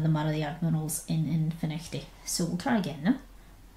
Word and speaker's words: Findochty: So, the Admiral's in a public house in a place called Finnechty, which is spelled Findochty, so make of that what you will.